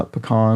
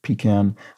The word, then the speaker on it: pecan: Pie variety whose pronunciation inspires debate. This is one of those words, yeah, pecan or pecan.